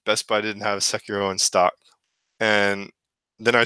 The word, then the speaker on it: Sekiro: Swiss, I need to hear about Sekiro, Shadows Die Twice. Did I pronounce that correctly? Sekiro. Close. Yeah, Sekiro.